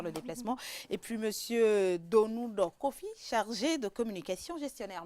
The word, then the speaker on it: Donou: Et puis Monsieur Donou Kofi, chargé de communication gestionnaire. Merci beaucoup d'avoir été là. Vraiment merci beaucoup Edwige et vous prononcez bien le nom. Donou.